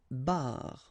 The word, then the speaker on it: barre: And then une barre. Okay, so you can hear that it's exactly the same way that you pronounce, but then you've got r, and then e.